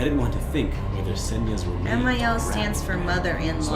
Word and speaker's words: Ксения: Senya. Senya. Did I say Sonya?